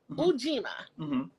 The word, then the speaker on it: Ujima: Okay, the word you don't say you. It's u, like Spanish. R-A-E-O-U. We'll talk about the other things. I'm getting into the pronunciation. No, let's go over it. Okay. So Ujima.